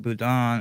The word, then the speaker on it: boudin: She's Cajun, and they make boudin or boudin, however you choose to pronounce it. It's supposed to be boudin, but it's the same thing.